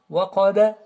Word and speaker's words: وقب: Ici, le waw, elle est fouilletée. Mais le qaf, il est emphatique. Et le ba, il y a une sorte de qalqala, une sorte de vibration. Waqaba, comme le qaf ici.